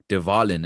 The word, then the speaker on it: De Wallen: And obviously, you guys are de Wallen. Am I pronouncing it correctly?